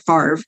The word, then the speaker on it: FAVR: tests um of course I pronounce it like the football player uh Brett Favre but it's it's the